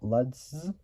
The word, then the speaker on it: Lutz: say GM Vice chairman Bob luds which spelled Lutz or or Lutz and uh